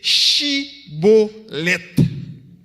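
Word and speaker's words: shibboleth: mot ça, qui c'est chibolet. C'est le mot que compagnon maçon étoile là. Yo même yo pas de prononcer mot au lieu de chi, yo dit si.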